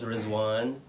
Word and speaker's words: Rizwan: So my name's Rizwan, rhymes with Obi-Wan Kenobi.